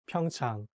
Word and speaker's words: Pyeongchang: saying pyeongchang or pyeongchang but like the correct pronunciation is pyeong chang so you have to make sure to say a sound clearly in the second syllable like that's the correct